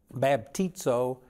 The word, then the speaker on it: baptizo: The word baptized, it's a Greek word, baptizo, I think is the way you pronounce it.